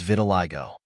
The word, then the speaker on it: vitiligo: spelled as V T I go the correct pronunciation of this word is vitiligo Vitiligo means a condition in which the pigment